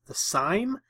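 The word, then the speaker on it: Siime Eye: So what this is it's called, I believe it's pronounced the SIME.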